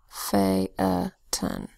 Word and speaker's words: Phaeton: So here we've got PH in our main character's name, Phaeton. That's a schwa sound. T, another schwa sound. Phaeton.